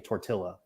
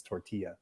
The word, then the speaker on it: tortilla: That'd be like saying tortilla. It's tortilla.